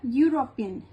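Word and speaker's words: European: शी इज अ यूरोपियन, यू आ रहा है यहाँ पे, यूरोपियन नहीं आ रहा।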